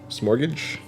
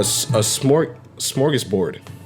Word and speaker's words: smorgasbord: Smorgage? Smorgasbord? A smorgasbord. So that's how you pronounce that.